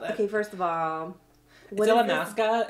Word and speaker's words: Illamasqua: Okay, first of all, illamasqua is how you pronounce the thank brand.